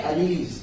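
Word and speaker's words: alleles: Pronunciation सही किया करो। ठीक है ना, बायो में काफी बार हम लोग क्या कर लेते हैं? गलत प्रोनाउंस कर लेते हैं। हम भी कर लेते हैं। ये क्या है? ये है अलीलीज। क्या कहते हैं? अलीलीज।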